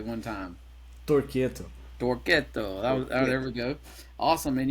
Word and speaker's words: Torquetto: is with a band called Toretto yes uh pronounce it for us correctly one time Toretto Toretto there we go awesome and you're located in